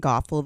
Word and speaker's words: Gothel: All right, just pretend like I've been saying Gothal the whole time cuz that's how you pronounce her name.